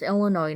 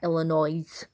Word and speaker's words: Illinois: different way in its Illinois not Illinois you don't pronounce the S and it's Chicago not